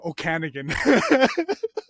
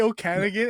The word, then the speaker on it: Okanagan: I hope I'm pronouncing that right. Yeah, you're right. Okanagan. Yeah, I remember that. Yeah, at first I used to say Okanagan and my Canadian friends would roast me for that.